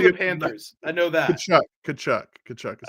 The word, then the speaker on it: Tkachuk: Tkachuk is how you say it.